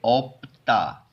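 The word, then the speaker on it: 없다: ठीक है, तो इसको पढ़ेंगे ओप्ता, इसको, ठीक है, ध्यान से, ओप्ता।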